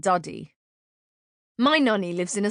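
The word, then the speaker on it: Dadi: Keziah always laughs at the fact that a nana is a man and a daddy is a woman, but it's actually pronounced nana and duddy.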